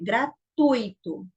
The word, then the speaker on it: gratuito: Mas a pronúncia correta é gratuito.